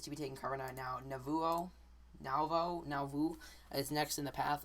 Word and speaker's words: Nauvoo: Nauvoo, I believe is how you say it.